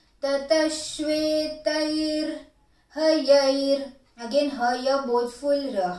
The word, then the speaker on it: श्वेतैर्: First line, tataḥ, tataḥ, bodhful, tataḥ, śhvetair, sh is half, ve is long, śhvetair, tai again long, ra half, tataḥ śhvetair, hayair, again haya, bodhful,